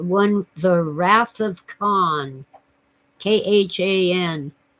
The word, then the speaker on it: Khan: The Wrath of Khan k-h-a-n we don't pronounce the age is probably really something like Khan but Americans and Englishmen don't go around talking like that with the guttural sounds which happened to be